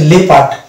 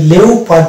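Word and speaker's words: leopard: থাকবে next word হচ্ছে এটা হচ্ছে লেপ পার্ট এটা লেও পার্ট না লেপ পার্ট এই যে লেপ পার্ট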